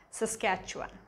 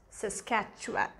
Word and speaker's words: Saskatchewan: in um in this list would actually be saskatchewan all right so that's one of the toughest names to pronounce and it is easy if you just give it a try is saskatchewan saskatchewan the next one is actually um manitoba now